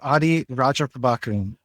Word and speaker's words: Adhi Rajaprabhakaran: It's Audi Roger Pbakran.